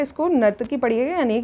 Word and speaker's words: नर्तकी: कि कांसे से बनी नर्तकी, यहाँ पे गलत स्पेलिंग लिखी हुई है। ठीक है, इसको नर्तकी पढ़िएगा, यानी कि ब्रॉन्ज डांसर जो थी एक आइडॉल पाई गई है यहाँ पे।